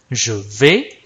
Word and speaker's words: vais: 老师念 je vais，后面这个 s 是不发音的 Du va，后面